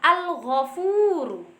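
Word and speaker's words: الغفور: Contoh bacanya adalah al-ghafuru. Al-ghafuru, al dibaca jelas, bertemu dengan gho atau ghin yang berharokat fathah dibaca gho.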